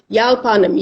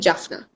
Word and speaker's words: Yalpanam: How many times they said, Yalpanam, Yalpanam, Yalpanam. Always they twist the words. They don't know how to say it properly. Maybe they don't want to. Yalpanam, Yalpanam. Suddenly they were calling it Jaffna.